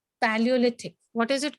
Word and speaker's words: Paleolithic: Paleolithic. This is how you pronounce it. Paleolithic. I'll Okay, help you. Paleo, you can break it here. Paleolithic.